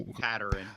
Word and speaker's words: Pateryn: I'm assuming that's more it's Pateryn. Pateryn.